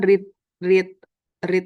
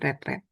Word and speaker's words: read: Kebetulan read itu verb 2 verb 3-nya tulisannya sama tapi cara bacanya beda. Read red.